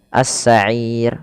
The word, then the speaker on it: السعير: Panjangnya boleh 2, boleh 4, boleh 6. Maka cara bacanya as-sa'ir 2 atau 4 as-sa'ir atau 6 harokat as-sa'ir.